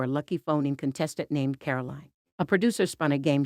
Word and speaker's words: Caroline: Mark was about to read the question but said her name wrong. He said, "All right, Carolyn. Here we go." "No, it's not fine. Carolyn," Kelly snapped and the audience went quiet. "Caroline," Mark awkwardly corrected himself.